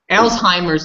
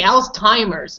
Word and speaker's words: Alzheimer's: not the same day Alzheimer's disease I used to say else timers but that was wrong with the tea oh and because you